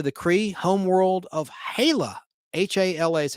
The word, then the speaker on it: Hala: H-A-L-A is how that's spelled.